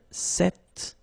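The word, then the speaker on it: cet: is set like that so it's quite interesting because if you listen carefully the masculine form here set and The Feminine form here set you write them differently but then you pronounce them the same way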